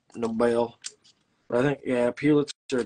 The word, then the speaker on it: Pulitzer: But I think, yeah, Pulitzer just says literally pew in it, which is funny.